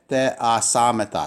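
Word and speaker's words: ἐθεασάμεθα: So te, a, samata.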